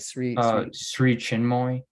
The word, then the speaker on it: Sri Chinmoy: Like Sri Chinmoy.